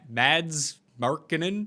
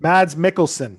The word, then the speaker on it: Mads Mikkelsen: was absolutely excellent and i i can never pronounce the guy's name was it mads markkanen mads mikkelsen mads mikkelsen i had never seen him as